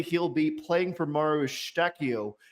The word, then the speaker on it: Eustáquio: Likely or unlikely, he'll be playing for Mauro Eustáquio next season. Good pronunciation, man. Portuguese.